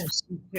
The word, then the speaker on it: Mercidieu: Well, my last name is Mercidieu. It's Mercidieu. French.